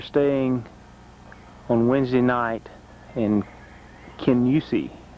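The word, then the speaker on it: Kingussie: This is a place we're staying on Wednesday night in Kenyusi. Spelled like Ken Gussy, but they pronounce it Ken Yusi.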